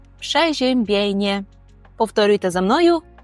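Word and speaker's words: przeziębienie: походить від слова простудитися тобто польською ми скажемо пшежембене пшежембене повторюйте за мною пшежембене це простуда якщо ми хочемо сказати про симптоми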